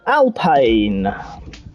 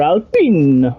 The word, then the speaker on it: Alpine: And now they are known as Alpine. Or Alpine, depending upon how you want to pronounce it.